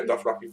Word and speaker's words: Dothraki: Did I pronounce that right? Dothraki? Yeah, Dothraki.